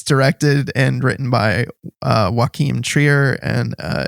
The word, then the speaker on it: Joachim Trier: it's uh it's directed and written by uh joachim trier and uh it's co-written by eskel vogt i i think i got that right yo kim trier gotcha only because i only because i studied the pronunciation would be a video yes thank you